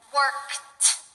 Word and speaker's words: worked: When the base form ends in a voiceless consonant, the simple past tense is pronounced with a T sound.